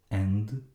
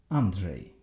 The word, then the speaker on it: Andrzej: Andrzej, which doesn't really exist in English, but it is pronounced similarly to S in measure.